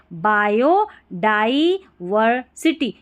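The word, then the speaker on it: biodiversity: टी Y city बायो डायवर्सिटी बायोडायवर्सिटी क्या पढ़ेंगे बायो डाईवरिटी यहां पर डाई पढ़ना है डी आई को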